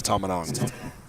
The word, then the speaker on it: Tamanon: I pronounced the name wrong earlier. It's Tamanon.